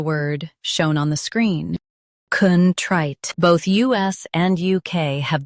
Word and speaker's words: contrite: Contrite. Stress trite. Keep con soft and clear. Contrite.